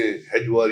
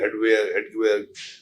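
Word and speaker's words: Hedgewar: केपी हेजवर था जी, जिसने हेजवर या हेडवेयर उसको इस तरह प्रोनाउंस करे, वो था इसका, जिसने ये वो डॉक्टर था बेसिकली और नागपुर में रहता था।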